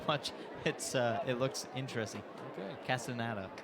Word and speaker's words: Castaneda: Castaneda is how you say it. but you want to say Casanana.